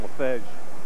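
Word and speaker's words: Lefeged: Good job on the pronunciation there on LaFedge.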